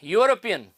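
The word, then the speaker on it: European: initial sound ठीक है चौथा जो वर्ड है यूरोपियन स्पेलिंग इसकी ई से स्टार्ट हो रही है लेकिन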